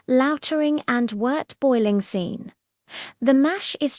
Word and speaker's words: wort: The sweet liquid produced is now called wort, pronounced wort.